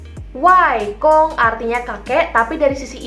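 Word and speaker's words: 外公: Kalau kakek dari sisi ibu, kita panggilnya wai kong. Wai kong. Wai kong artinya kakek, tapi dari sisi ibu. Papanya mama, kita panggilnya wai kong.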